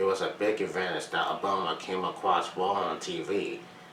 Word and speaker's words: Obama: People were always getting his last name wrong. He said, garbling it as Loma or Alabama, or they bought it was Alice, Alabama.